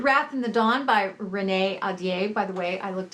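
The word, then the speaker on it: Renée Ahdieh: The Wrath and the Dawn by Renee Adier. By the way, I looked up how to pronounce her name and that's how you do it.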